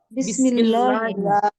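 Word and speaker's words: بِسْمِ اللّٰهِ: দ্বারা দ্বারা এখন বলেন দুইটা মিলে কি হবে বিসমিল্লাহি বিসমিল্লাহি বিসমিল্লাহি বিসমিল্লাহি বিসমিল্লাহি বিসমিল্লাহি আল্লাহর নামের সাথে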